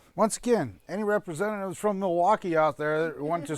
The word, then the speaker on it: Milwaukee: Yeah, actually it's pronounced Milwaukee, which is Algonquin for the good land.